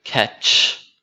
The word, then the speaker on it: catch: included this next word catch because some people pronounce it the same as cash there are two very different words catch is when you